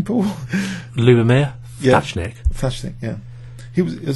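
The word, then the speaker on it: Ľubomír Ftáčnik: how would you pronounce his name, Paul? Lubomir Thatchnik.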